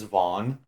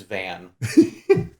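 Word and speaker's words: Vaan: think he's okay uh if you had not pronounced it his name is vaughn i would have said his name is van you know which one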